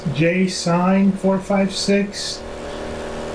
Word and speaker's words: JSign456: It's JSign456, kind of like just the letter J and then sign, like road sign, and then 456.